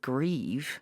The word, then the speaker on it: Grieve: But it was soon after this that Renee's lawyer, called Stuart Grieve, as it not even spelled like not grief, it is. It's spelt like grieve, yeah.